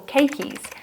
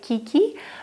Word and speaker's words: keiki: forming what we call keikis. Thank you to one of my lovely subscribers who actually let me know how to pronounce it because I used to say kiki, but apparently it is keiki.